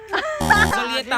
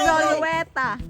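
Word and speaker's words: Zulueta: Solieta ba? Solieta. Don Solieta. Wrong pronounce. Don Zolueta.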